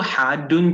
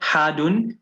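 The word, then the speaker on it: حادٌّ: It is, if you can see tashdid on the dal, so it is not hadun, but hadun. You pull into the dal before you say the dhammatain on it.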